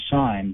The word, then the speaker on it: sign: and with simpler words such as sine when you sign your name we call that a signature we hear the g pronounced in signature we don't sign but we keep that